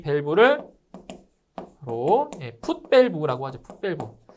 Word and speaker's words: 풋 밸브: 이 후드 밸브는 이 풋 밸브가 영어로 하면 이렇게 돼요, 이렇게 풋 그리고 밸브. 자, 이렇게 되는데 이 풋 밸브를 일본식 발음으로 하면 그게 후드 밸브예요.